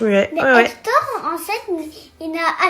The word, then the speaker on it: Hector: Hector. Hector, oui, on l'entend pas, c'est un H muet. Mais Ouais, ouais. Hector, en fait, il a H pas muet, mais wow, on l'entend pas.